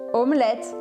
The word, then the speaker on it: omelette: A pronúncia sempre aqui é diferente. Baguette, baguette. Filé, un filet. Omelete, omelette.